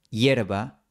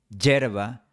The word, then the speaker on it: hierba: Por eso, la pronunciación que recomiendo para personas aprendiendo español es hielo, hierba, huevo, hueso. A veces vas a escuchar hielo, hierba, huevo, hueso, pero no te recomiendo imitar esto.